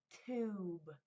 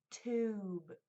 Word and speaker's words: tube: Tube. It changes the U from short tub to long. Tube. Ooh, U. It says its name.